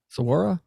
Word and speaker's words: Saguaro: We're going to go to Saguaro National Park. We're going to hike like the rim of the Grand Canyon. And we're going to go to Saguaro? Mesa, Sedona. What? Saguaro?